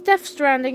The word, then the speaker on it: Death Stranding: It's Death Stranding. Yes, it is Stranding, not Stranded.